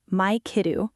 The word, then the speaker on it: マイケル: Your name in Japanese sounds like Maikeru, which matches the Japanese syllable system. Maikeru. Got it. Right. Japanese doesn't have certain sounds like the L at the end of Michael, so it changes to a vowel sound like ru.